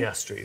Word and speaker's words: Piastri: Piastri, that's it.